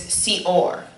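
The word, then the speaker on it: שאור: The word first in Hebrew is seor. And so that's spelled sin, aleph, vav, resh.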